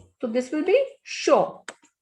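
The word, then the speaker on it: chaud: So this will be show. Show. D is the last consonant, and when D is at the end, we don't pronounce it. So D will be silent here.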